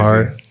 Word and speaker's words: Hart: Last name rhymes with fart. First name Josh. Last name crazy. Hart.